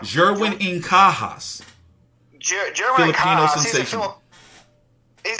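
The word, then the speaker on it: Jerwin Ancajas: How do you pronounce his name properly? I need to get this right. Jerwin Incajas.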